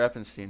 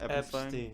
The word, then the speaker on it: Epstein: Only for Eppenstein, right? Eppenstein. Eppen? What is it? How do you say it again? I don't remember. Epstein. Epstein. Epstein. There you go.